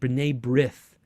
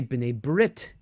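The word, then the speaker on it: B'nai B'rith: you see hebrew words there's a famous organization rene brith now we would say binet brit but the the tav without the dot had a first sound but now dot no doubt it's a t and then some jews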